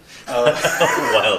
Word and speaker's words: Wild: so to speak mhm wild yeah so you pronounce it vild German yeah all the microscopes